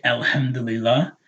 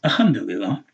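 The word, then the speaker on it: الحمد لله: Some people were saying Alhamdulillah. And then they realized they, as they learned Arabic, oh, there's a lam, that's Alhamdulillah. Or someone corrected it for us and told us pronounce the lam, right?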